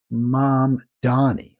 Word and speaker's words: Mamdani: Even though it's not it's not M O M like mom, but it's pronounced M A mom.